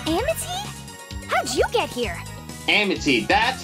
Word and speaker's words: Amity: Amity, that's how you pronounce it.